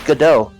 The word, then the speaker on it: Godot: says wait it's not pron Godot no it's pronounced gdo um it is named after I mean it's it's a you know gdau is a name uh I'm sure people in